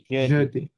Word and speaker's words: jeudi: মেথডি Mahkudi, ইয়েস দেন Thursday যদি Jeudi, Jeudi. যদি বাংলাদেশে যদি। যেরকম যদি সেম সব Yo. সময় যে বা জয়ের উচ্চারণ হবে জু জো, এটা বারবার প্র্যাকটিস করবেন বাসায়।